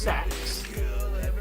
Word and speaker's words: CeX: Oh, Dave, I was out in town today, and we have a shop spelled CEX, pronounced sex, and their literal Wi-Fi was called unprotected sex.